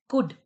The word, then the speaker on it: could: Could. कुड में हमारा हम इसे कुल्ड नहीं बोलते, हम इसे कुड बोलते हैं.